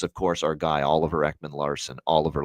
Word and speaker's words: Ekman-Larsson: Jonathan Marchessault, him calling him John Masserol is one, and the other is, of course, our guy, Oliver Ekman-Larsson, Oliver Lossum Tossum.